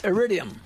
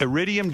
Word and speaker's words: Iridium: Idium. Iridium Jazz Club of Manhattan.